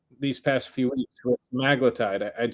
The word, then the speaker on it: semaglutide: It's virtually guaranteed that we're going to have GLP-1s on the platform, whether it's liraglutides, semaglutide. I'm trying to pronounce it how Liraglutide. Yeah, it's semaglutide according to Duke.